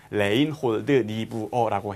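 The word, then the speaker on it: Reinhold Niebuhr: 그것들의 차이를 아는 또 지혜를 주십시오라고 하면서네 누가 얘기했느냐이 얘기를 레인 니브러라는 분이 얘기했는데 독일라서 약간 그 원어민도 발음씩 약간씩 다르긴 해요. 근데 우리나라 말로 어떤 레인홀드 니브어라고 해요.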